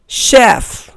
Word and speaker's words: chef: अब next spelling देखें, CHEF। इसका करेक्ट प्रोनाउंसिएशन है शेफ, यानी यहां CH श का साउंड दे रहा है।